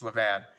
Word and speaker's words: Levan: yes so and i don't know how to pronounce this i remember thank you it's levan i am a bad utah and i haven't